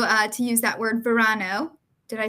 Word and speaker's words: verano: Verano.